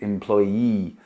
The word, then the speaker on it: employee: An employee, be careful, it's spelled with double E at the end, employee.